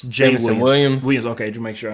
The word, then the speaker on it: Jameson: Is it James? It's Jameson Williams.